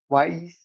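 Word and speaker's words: WAIS: Well, guess how you pronounce that. Weiss, right? Like just spelled different. W A I S. Weiss, wise, wise, wise, however you want to say it.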